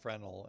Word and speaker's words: Fresnel: Or is that like Fresnel and the S is silent?